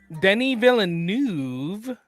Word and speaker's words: Denis Villeneuve: So Denis Villeneuve Oh my God, you said it right.